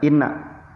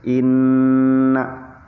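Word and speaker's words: إنّ: Sunda mah irung ya Makane bacanya harus seperti ini imna ya udah boleh baca Ina langsung itu aja tapi harus Inna kemudian setelah kalimat Inna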